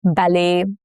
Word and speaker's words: ballet: Examples are ballet, buffet, crochet, all have the T's that are silent.